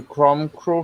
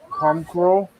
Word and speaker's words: Comgrow: Do you go tonight to the Chrome Crow show, Liam? The what? What's it called again? I pronounced it wrong. Comgrow.